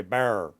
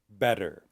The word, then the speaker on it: better: then you will have a rural accent where the T is not pronounced and people will say bear, bear.